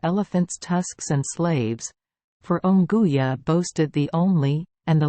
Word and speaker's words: Unguja: of all expeditions into the interior, and Unguja, pronounced Unguja, the big town of that island, the place where the preparations for plunging into the unknown were made.